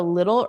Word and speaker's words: little: So here little is pronounced with D's in the middle because those T's become D's.